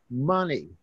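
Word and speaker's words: Mene: M-E-N-E, pronounced money.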